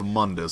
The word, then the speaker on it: Mundus: could take his place I'm gonna go with Monday's since that's how they pronounce it in the game the demon king Mundus